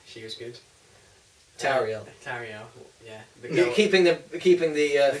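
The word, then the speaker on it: Tauriel: Yeah, Toriel, she was good. Tariel. Tariel, yeah.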